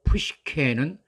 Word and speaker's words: Psyche: 를 어원을 통해서 알아보겠습니다 고대 그리스 식 발음으로 푸쉬 캐는 지극히 사랑하는 남편 헤로스 가 사라진 후에 에로스에 대한 그리움으로 끝없는 고통의 시달렸습니다 그리스 신화에 등장하는 푸쉬 쾌 가 바로 영어 싸이키 정신 이라는 단어가 된겁니다